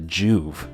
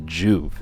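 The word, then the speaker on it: Joovv: me because they use a device called the Juve and I just where did they get that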